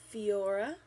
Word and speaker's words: Phoera: this is i think it's spelled or or pronounced fiora p-h-o-e-r-a and again this is a primer super